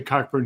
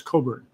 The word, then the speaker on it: Cockburn: But uh because Coburn is spelled Cockburn, but if you ever are with Alistister and you say Cochburn, he will make sure that you pronounce it properly as Coburn.